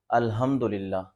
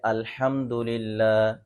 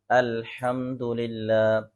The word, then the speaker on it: الحمدللہ: سورۃ الفاتحہ جو سب سے پہلی آیت ہے الحمدللہ، تو اس میں نمازی حضرات کیا غلطی کرتے ہیں الحمدللہ، تو یہ تلفظ درست نہیں ہے۔ درست تلفظ اس کا یہ ہے الحمدللہ، الحمدللہ۔ اسی طرح سورۃ اخلاص میں لفظ قل هو